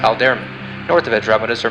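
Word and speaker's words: Alderamin: The brightest star in Cepheus is pronounced Alderman.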